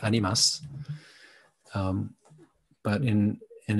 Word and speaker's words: Animas: spanish word for souls that would be pronounced by spanish speaking people more like animas but in and it's